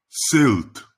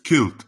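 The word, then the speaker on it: Celt: Например, Си в словах селт и селтик было традиционно мягким. То есть кельт и келтик когда-то было мягким, то есть «с». Селт, селтик. Но с конца XIX века твердое произношение также было признано в качестве сознательного подражания классическому латинскому произношению слова «келтае».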